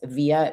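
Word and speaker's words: Vija: So just email one of us via, my name's pronounced Via, but it's spelled as in Victor, IJA.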